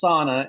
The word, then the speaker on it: sauna: The the two that came to my mind is sauna, pronounced sauna in America, but it's a Finnish word, Dino. Okay. So, sauna.